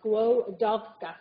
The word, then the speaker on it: Skłodowska: squo, like squash, so Skłodowska, so the W is like a V. So if you ever become a Marie Skłodowska-Curie Fellow, I suppose the least you can do is figure out how to actually say it properly.